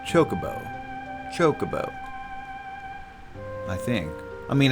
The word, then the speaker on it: Chocobo: There's no standard for the emphasis because Japanese doesn't have stressed syllables. So yeah, in Japanese it would just be Chocobo.